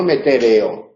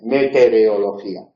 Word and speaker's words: meteorología: Entonces, en meteorología, pero es meteoro, no meteoreo, que es lo que pone ahí, meteorología.